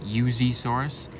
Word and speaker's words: Yuxisaurus: And the way it's pronounced is the X is supposed to make like like a Z sound. So it would be Yuzaurus.